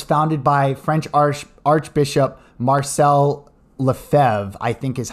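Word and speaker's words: Lefebvre: traditionalist movement was founded by French Archbishop Marcel LeFevre I think is how you pronounce his name French Archbishop Marcel LeFevre was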